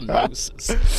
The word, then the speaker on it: gnosis: That's when you to noses. It's a silent G, but I pronounce the G because it just sounds gnosis.